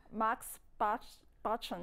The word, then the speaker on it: moxibustion: How do you pronounce that properly? I suppose to be moxibustion, right?